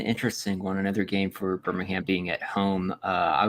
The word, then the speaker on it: Birmingham: successful in Birmingham um sorry birming Birmingham yeah there's no G do not pronounce the G silently there is there is a g in Birmingham and it's you killer um